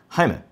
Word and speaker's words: Jaime: Jaime, not Jamie.